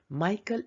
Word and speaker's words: Micah: 베들레헴 영어 발음이 Bethlehem. Micah lived 700 years before Jesus.